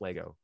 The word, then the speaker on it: Lego: you have john richards it is pronounced lego anyone who says legos is wrong so that i'm just